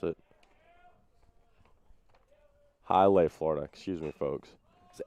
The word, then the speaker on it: Hialeah: I believe that's how you pronounce it. Hialeah, Florida.